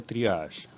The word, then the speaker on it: triage: Exacto, sí, se pronuncia triage. Triage. ¿Es un nombre de origen francés? Es una palabra en francés, fue creada en la Guerra Mundial, en la primera.